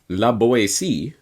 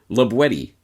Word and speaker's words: La Boétie: as might be thought la boyce but rather labuetti with the hard tea as it was pronounced in the perigord dialect of the region in which libwedi lived